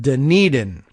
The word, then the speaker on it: Dunedin: after you know someone else's town so the pronunciation could be anything but Dunedin d-u-n-e-d-i-n Dunedin uh I guess we might have